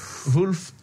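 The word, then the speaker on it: Wolff: Ça prononce comme ça. Wolf.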